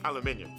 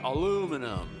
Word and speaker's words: aluminium: steel leaving just aluminium we brits say aluminium and the americans say aluminum but who's right uh sir humphrey davey